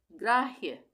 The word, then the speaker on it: ग्राह्य: हम कैसे पढ़ेंगे ग्राह्य ग में पदेन की मात्रा पता लग गया। ग का आधा उच्चारण हो रहा है। र का पूरा हो रहा है। तो ये हो गया ग्रा। आ की मात्रा लग गई। ग्रा। उसके बाद ये ह य है पूरा। तो ये क्या बन गया? ग्राह्य। य का उच्चारण पूरा होगा। ह का आधा।